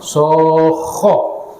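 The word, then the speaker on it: الصَّاخَّة: Fa idza ja'atis sokho, menyebutkannya saja sudah memekakkan telinga ya. Coba ibu-ibu baca. Fa idza ja'atis sokho. Bacanya begitu, tebal, tasdid dan panjang. Sokho.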